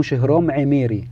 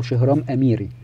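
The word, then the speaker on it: شهرام امیری: شخص أو عالم اسمه شهرام عميري أو شهرام أميري، لأن العين بتنطق في اللغة الفارسية ألف. شهرام عميري كان عالم صواريخ وعالم نووي وكلام من هذا القبيل.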